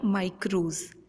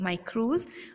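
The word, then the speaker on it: μικρός: Has been originated from a Greek word जिसका pronunciation था माइक्रोज, MIKROS, माइक्रोज, जिसका अर्थ होता है स्मॉल या सूक्ष्म।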